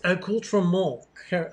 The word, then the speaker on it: accoutrement: Oh, Richard says, pronounce accoutrement correctly, Doug. Accoutrement. That's what it is. It's, you could pronounce it a couple different ways. That's the anglicized version of it.